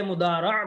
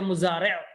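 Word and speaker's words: مضارع: উভয়কে একত্রে ফেলে মুদারা বলে। কি বলে, ফেলে মুদারা। আর আমরা অনেক সময় উচ্চারণ করি কি ফি'লে মুজারি', অনেক সময় উচ্চারণ করি কি ফি'লে মুজারি', আর শুদ্ধ উচ্চারণ কি ফি'লে মুদারি'।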